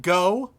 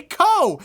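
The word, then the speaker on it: Kou: it's reasonable if you want to be called co instead of go yeah why is everyone else being an about it that's why it's it's not even a syllable it's a phoneme homie it's a single phoneme that's pretty close to the initial phoneme just say ko and nagisa uh nagisa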